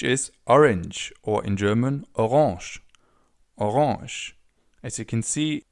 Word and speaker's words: Orange: orange or in German orange. As you can see the writing is exactly the same only the pronunciation is a little different instead of orange.